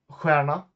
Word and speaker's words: stjärna: Stjärna means star. It's pronounced the same as the others, which is really weird, right?